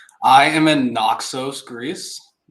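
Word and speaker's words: Naxos: I am in Nooxos, Greece.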